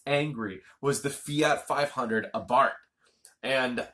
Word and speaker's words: Abarth: cute and it's angry was the Fiat 500 Abarth and it's spelled Abarth but it's pronounced a Bart dragon